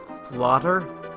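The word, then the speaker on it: fläder: Which, fun fact, elder and elderberry in Swedish is pronounced flotter.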